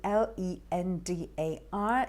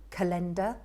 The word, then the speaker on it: calendar: as well c a c-a-l-e-n-d-a-r it's a word we often use it can be mispronounced by saying calendar i've heard people say that the right pronunciation is calendar and what about this